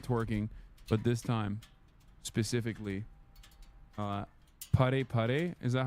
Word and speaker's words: Para Para: This time not twerking, but this time specifically pare pare. Is that how you say it? I'm putting Miskiff through another humiliation ritual. Yes. Para para.